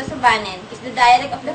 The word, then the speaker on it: Subanen: of sweet and coconuts subanon pronounced a subanen is the dialect of